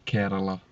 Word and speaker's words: Kerala: How would you pronounce it? Kerala.